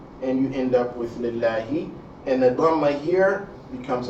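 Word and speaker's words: لله: So your pronunciation of the lamb here, this second lamb, not the first lamb. The lamb of concern is the second lamb, not the first lamb. Is, again, la instead of law.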